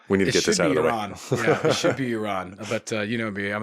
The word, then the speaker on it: Iran: Yeah, it should be Iran. But you know me, I'm an American, so I pronounce everything incorrectly.